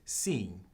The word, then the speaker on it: sim: chi si sedan Portuguese how you say yes in Portuguese is seen see kinda like see but except with the actual letter on it see and how do you